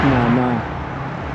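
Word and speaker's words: Nënë: yan makikita niyo nakasulat is Nene ang pronunciation kasi niyon is nana sa albanian ang e is letter a as in Apple kaya Nana Teresa so Mother Teresa so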